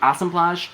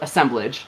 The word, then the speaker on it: assemblage: of the month the assemblage 2018. now asemplage um or assemblage um both are acceptable pronunciations uh awesome flash is the french word for wine blend and so knowing me